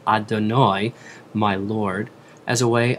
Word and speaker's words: Adonai: The next two words of the blessing, continuing, are Hashem, or pronounced Adonai in worship, and Elohim.